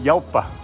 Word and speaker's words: Jalpa: So it's a Jalpa, guys, or pronounced Yalpa.